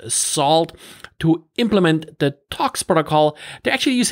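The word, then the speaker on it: NaCl: network and cryptography library or short knuckle or actually pronounced salt to implement the talks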